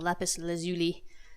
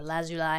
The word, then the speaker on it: lapis lazuli: a piece of a lapis lazuli or allows you lie however you want to pronounce it apparently they're both correct thing about this it's